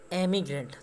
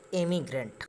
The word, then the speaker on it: emigrant: बस गया है, वो एमिग्रेंट। तो आप प्रोनाउंसिएशन को भी याद रखिएगा, इमिग्रेंट और एमिग्रेंट का स्पेलिंग होता है EMIGRANT। IM को ई से रिप्लेस कर देंगे तो एमिग्रेंट हो जाएगा।